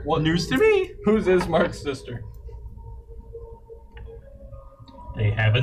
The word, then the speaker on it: Ismark: Have a good night, Ismail. It's Mark. Ismail.